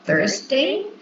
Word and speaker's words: Thursday: Okay, so I just could notice the pronunciation of Thursday. Be careful with the pronunciation of this day because it's not T, it's Thursday.